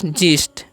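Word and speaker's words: gist: है तो इसे क्या पढ़ते हैं हम लोग जीस्ट ओके ये दोबारा टाइप हो गया सॉरी इमेजिन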